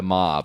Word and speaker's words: Moab: Killed by the mob. Which is also how you pronounce Moab in some circles.